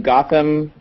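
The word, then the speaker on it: Gautam: ahead so hi I'm Gotham it's spelled g Au t but pronounced Gotham like the city uh which is pretty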